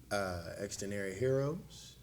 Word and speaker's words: Xdinary Heroes: Xdinary Heroes.